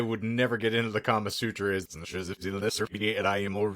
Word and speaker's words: Kama Sutra: I wanted to do kind of like a brief history on like the Kama Sutra or something like that.